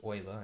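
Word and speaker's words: Euler: This is pronounced Oiler.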